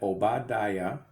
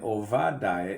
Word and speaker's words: Obadiah: can see that the beginning of the word obadiah has been changed to with the v sound victor victor sound daya instead of o ba da ya clearly they understand that obadiah is a pronunciation of the same prophet's name and ovadaya is the new pronunciation why would anyone ever